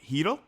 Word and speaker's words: Chytil: So that's how you pronounce his name, Filip Chytil? Chytil, yeah. Trust me, my pronunciation is total crap.